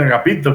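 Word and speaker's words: ἀγαπητός: En la primera carta de San Juan usa mucho esa palabra, agapetos. En griego se dice agapetos, pero tiene una ita, y la ita se pronuncia como i. Entonces eso quiere decir agapito, quiere decir amado de Dios.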